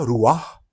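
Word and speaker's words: רוח: Mais au niveau de la phonétique, c'est bien Ruach, comme en hébreu, mais pour le tétragramme, Yahweh, le son fait, enfin la phonétique fait Adonai.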